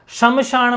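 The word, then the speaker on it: श्मशान: शमशान में श पूरा नहीं आता है, श आधा आता है, एक ए स्वर की एंट्री गलत है, ठीक है।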